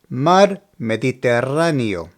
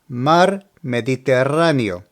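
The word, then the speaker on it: Mar Mediterráneo: pronunciation is ayto ehto obviously this word is referring to the Mediterranean Sea the correct pronunciation for this one is mar mediterano mar mediterano so I have no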